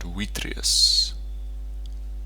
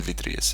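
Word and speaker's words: vitreus: Oh, by the way, if you're doing proper Latin, proper ancient Latin pronunciation, a V is pronounced as a W. So, it's a weakus and witrius probably sounds a bit weird. Victus and vitrius is fine, you know.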